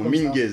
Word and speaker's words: Minguez: C'est bien comme ça qu'on prononce ton prénom, Minguez.